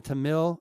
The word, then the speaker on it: Tamil: the Buddhist and the Tamil uh I think you pronounce it Tamil but t t a m i l uh which is